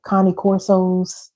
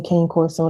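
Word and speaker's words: Cane Corso: Y'all ever seen like I like Connie Corso? I know y'all say Kane Corso. That's not how you pronounce it. Connie Corso, full German Shepherds, Pit Bulls.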